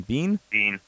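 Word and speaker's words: Beane: Buffalo Bills general manager Brandon Bain. How do you say his name? Bean. Just with a silent E.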